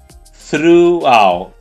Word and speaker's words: throughout: Coloca a língua no dente de cima, sopra e faz o throughout.